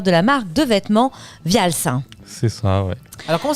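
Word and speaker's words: Wials: un jeune créateur de la marque de vêtements Vials. C'est ça, ouais. Alors, comment ça s'écrit déjà ?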